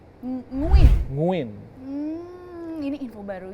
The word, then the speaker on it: Nguyen: Misalkan kayak pemain Vietnam nguyen orang banyak ngomong nguyen bukan nguyen nguin. Nguin.